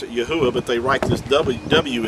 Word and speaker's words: Yahuah: as the second but being at the it's at the end of a word or a name it makes the ah sound so his name would be pronounced yahuwah yahuwah is how we were